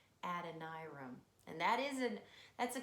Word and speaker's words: Adoniram: said his name wrong I used to call him a Dona Ram but his name is Adonai room and that isn't that's